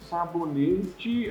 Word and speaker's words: sabonete: Sabonete, aqui a pronúncia é com I, né? Porque o E no final, como ele não é oxígeno, não vai dar esse som de I, sabonete.